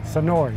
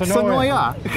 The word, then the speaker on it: Senoia: Senoia, not Senoia. No. Even though that's how it's spelled.